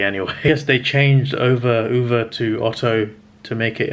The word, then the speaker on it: Ove: It's the same for the most part, but in this one, Ove's like Ove's in tears and crying. In the Tom Hanks version, I said Ove, it's pronounced Uwe actually, or Uwe.